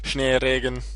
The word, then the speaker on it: Schneeregen: Schneeregen. I should probably just pronounce it in German if it's a German name, because it's really obvious.